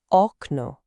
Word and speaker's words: okno: A two-syllable word like window, okno. The stress is on the first syllable, which is the second to last.